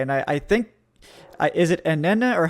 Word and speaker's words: Anenih: Okay, and I think, is it Anenih or how do you say it? Just so I don't butcher it. Anenih.